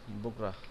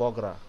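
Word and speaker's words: বগুড়া: তারপর সেকেন্ড এটা, এইটা হইলো, এটা হইলো, এটা এটা দিলাম বগরা, অরিজিনাল উচ্চারণ কিন্তু বগরা, কিন্তু আমরা বলি বগরা।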